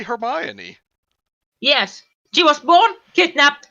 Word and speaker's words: Hermione: on her me own I think that's pronounced hermano that's right Hermione was kidnapped when she was born what then she was born she was born that way it's supposed to be Hermione yes she was born